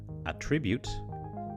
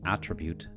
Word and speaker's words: attribute: have a look at words that change from nouns to verbs or vice versa depending on their stress position let's start with this